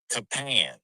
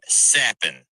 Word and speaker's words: Capan: So on your DraftKings lineup, it's going to look like it is Frankie Capan, but it's actually pronounced Frankie Sappin.